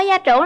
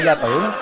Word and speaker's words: gia trưởng: Bạn ơi, bạn có gia trưởng lắm không? Mình không gia trưởng rồi. Gia trưởng chứ không phải gia tưởng. Dạ em. Gia trưởng đó là dạ em, bên tre phát âm sai à.